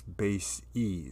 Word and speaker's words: bases: basis vectors and so the plural of bases is base e so you have an e there and it makes a long e sound so we're going to